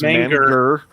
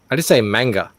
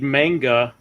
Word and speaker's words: manga: He says manger. Manger. Yeah, but he's trying to pronounce that as sort of some kind of traditional Japanese way, I'm sure. Because I just say manga.